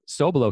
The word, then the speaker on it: Sobelow: a little background on my personal experience was so below so it's spelled sob e ello W in case someone's